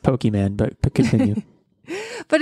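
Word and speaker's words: Pokémon: of card games where you're collecting cards it's pronounced pokemon but continue but it's more like you're collecting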